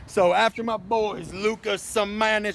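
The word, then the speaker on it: Šamanić: Okay, so after my boys, Luka Samanic, that's how you say it, Samanic, the Croatian sensation, told me himself.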